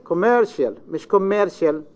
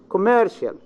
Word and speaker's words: commercial: second next yes uh-huh commercial miscommercial we don't have germination in English commercial mayor this is a